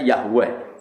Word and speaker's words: Yahweh: huruf kapital, E dengan huruf kapital, H dengan bacanya Yahweh.